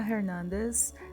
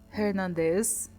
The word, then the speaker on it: Hernandez: By the way, they pronounce Hernandez like Hernandez. Girl, not to throw stones from a glass house, but like, I've never heard anyone say it like that.